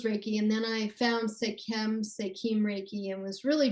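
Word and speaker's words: Sekhem: in 1997 with certifications in, I'm going to mispronounce this type of Reiki. Can you say that? Skate? Yes. What is that? It's Sekem Sekim Reiki.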